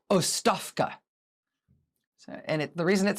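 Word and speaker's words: оставка: I do not speak Bulgarian, but I think the pronunciation is ostavka.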